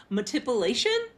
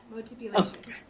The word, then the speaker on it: Motipulation: Metipulation podcast. Did I say it right, Kimberly? Yeah. Motipulation.